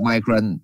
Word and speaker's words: migraine: Rồi chữ percent migraine thì lúc em đọc migraine, lúc đọc migraine đọc đúng rồi mai nha, nhớ em đọc là migraine.